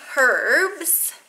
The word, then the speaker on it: herbs: this video is some herbs yes I pronounced it with an H because I am Canadian not french-canadian so some herbs that